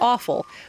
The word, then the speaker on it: offal: Greek sacrificial offering is the offal, which just happens to rhyme with the word awful as in terrible, but it is a completely different word.